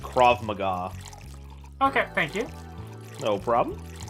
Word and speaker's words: Krav Maga: Oh, and I guess at the risk of sounding like a know-it-all, but for future reference, I believe it's pronounced Krav Maga.